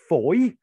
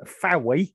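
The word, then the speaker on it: Fowey: estuary um just off foy uh that is the correct pronunciation you will find um fowwee if you can't find it on a map um f-o-w-e-y uh but foy it's called and what you had to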